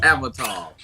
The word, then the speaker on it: Avitalz: Well, first of all, you pronounced my name wrong, mother. It's Avatar.